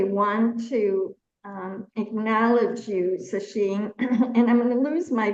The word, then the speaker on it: Sacheen: Am I pronouncing that correctly? Sasheen Kat.